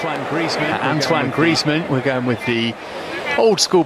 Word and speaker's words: Griezmann: they are not related it's one Griezmann Antoine Griezmann we're going with the old-school pronunciation of his name tonight this is his